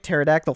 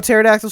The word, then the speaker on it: pterodactyl: thought it meant dick pterodactyl fever dick pterodactyl fever and i know i know pterodactyl starts with a p but the p is silent so that means it